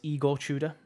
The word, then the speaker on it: Igor Tudor: Somebody told me I was pronouncing that wrong last time. Apparently it's Igor Tudor.